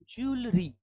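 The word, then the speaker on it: jewellery: ज्वेलरी क्या आएगा? ज्वेलरी, जो ज है ना उस पे स्ट्रेस है, ज्वेलरी, ज्वेलरी। ये जो अ है ना यहाँ पे क्या है? ये साइलेंट है।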